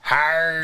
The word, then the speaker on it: Howard: Or, see, now, if you're from Pittsburgh, or I grew up in the South Hills, they pronounce it, they spell it as H-I-R-E-D. H-I-R-E-D. Hard. Hard. Oh, that would be how they would pronounce it. Bill Yeah. Carr. Howard. That's the Pittsburgh accent.